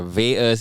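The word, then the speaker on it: VAERS: vas is uh first of all german clever vas is an acronym it's spelled v-a-e-r-s and it stands for vaccine adverse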